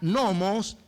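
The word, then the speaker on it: νόμος: Porque la palabra ley, esta palabra ley que dice que haya una ley, en el original se pronuncia nomos, que significa uso, costumbre, una fuerza o una influencia que me impulsa a hacer algo.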